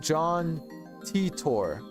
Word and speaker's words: John Titor: does look like Flint like dead ass it's pronounced John Titor oh thank you thank you he claimed to